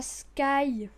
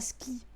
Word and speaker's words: Sky: Pour ceux qui savent pas lire, il y a marqué Abot-toi à Sky. Oui, parce que mon pseudo se prononce Sky et pas Ski.